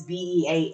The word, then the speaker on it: BEAH: cute because um you can obviously see it's b e a and at first I was like how are we going to pronounce that but they're like no no it's